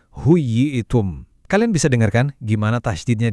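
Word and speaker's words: حييتم: Begitu juga kata huyitum, dibacanya harus tegas, huyitum.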